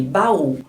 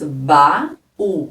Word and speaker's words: baú: separadas ocorre o iato nós temos aqui baú os dois sons vocálicos são fortes nós temos ba u Aqui nós temos uma vogal e aqui também nós temos uma vogal tanto o a é forte e marcado na sílaba como o u também o u sozinho forma uma sílaba então nós temos um